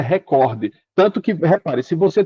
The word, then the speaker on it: recorde: Não existe o português, por exemplo, você dizer record, a palavra é recorde.